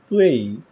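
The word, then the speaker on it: 对: বলবো তুই পুছি, প্রনাউন্সিয়েশনটা এরকম হবে, তুই, প্রথমটা ডি ইউ আই আর, প্রনাউন্সিয়েশনটা এরকম হবে, তুই তুই, তারপর হচ্ছে পু, তারপর হচ্ছে ছি ছি, থার্ড পার্সন, তুই পুছি তুই পুছি, এরকম হবে।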